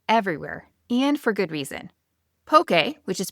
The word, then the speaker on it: poke: list with the real MVP of Hawaiian cuisine, pokey. If you've been to Hawaii before, you already know this dish is everywhere and for good reason. Pokey, which is pronounced pokey, not pokey, not poke, is basically cubed raw